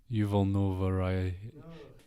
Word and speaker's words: Yuval Noah Harari: So the book from there that I read was I don't know how to say his name, Yuval Noah Harari. Oh, okay, I said it right-ish. Yuval Noah Harari.